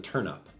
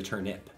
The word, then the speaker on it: turnip: turnip turnup interesting it's a turnip I usually pronounce it turnup t r n u i pronounce it but it's actually turnip interesting all right New York minute Mario Circuit